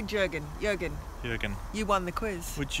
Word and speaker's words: Jürgen: Jürgen.